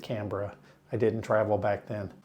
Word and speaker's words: Canberra: That's how we pronounced it. I didn't know that Australians pronounced it Canberra. I didn't travel back then. The Canberra Koalas.